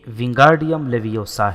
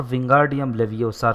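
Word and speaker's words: Wingardium Leviosa: کو جھڑک رہی تھی۔ یہ ونگارڈیم لیویوسا ہے، اپنے منہ کی تھوک کو قابو میں رکھو اور ونگارڈیم لیویوسار کے بجائے درست تلفظ ادا کرو۔ اگر تم اتنی ہی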